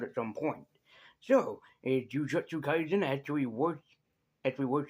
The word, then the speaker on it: Jujutsu Kaisen: So, is Jujutsu Kaisen actually wor actually actually worth checking out? By the way, am I the only guy that accidentally pronounces this sometimes as Juju Kaisen as an accident?